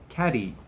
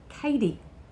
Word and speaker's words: Kady: we mispronounced your name we were saying caddy and it's Katie so Katie and Katie's